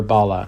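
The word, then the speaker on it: Balla: I really showcase Bala restaurant in um or Bala as it's pronounced in a wonderful light.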